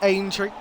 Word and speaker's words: Aintree: Aintree, yeah, I need to pronounce that correctly, you know. Yes. Yes, don't worry, it is Aintree.